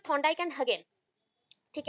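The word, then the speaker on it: Hagen: ठीक है, हगेन and Thorndike के अकॉर्डिंग, दैट इज आप लोग अगर बोलना चाहो हेजेन भी बोल सकते हो, बट हेजेन इज not proper pronunciation of this word, तो दैट इज हगेन। तो आप लोग हेजेन बोल सकते हो या फिर हगेन भी बोल सकते हो, जो आपको अच्छा लगे, बट प्रोनाउंसिएशन में हगेन आएगा।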